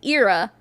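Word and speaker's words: Eara: Okay, so her name is pronounced Erica, but it's spelled Erica, and her mom's name is Ira, spelled E-A-R-A.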